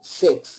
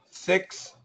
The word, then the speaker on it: six: So, six seeks. Six seats. Six seeks. Okay. But this this is a short eye. Six is a short eye. Seeks is a long e.